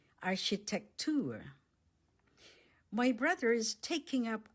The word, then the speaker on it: Architektur: architecture Architektur Architektur Let's say it syllable by syllable. The stress is on the last syllable. Architektur My brother is taking up architecture in the university.